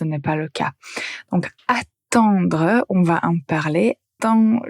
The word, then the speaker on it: attendre: la même façon mais la première syllabe est différente. Attendre. Attendre. Donc vous avez la lettre à tendre. Pour entendre vous avez la nasale.